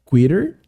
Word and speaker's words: quitter: quitter quitter seria desistente perceba a pronúncia dos dois Ts ali que eu tô fazendo na palavra quitter meio que tem esse sonzinho de R porque é um t que tá entre duas vogais então é quitter quitter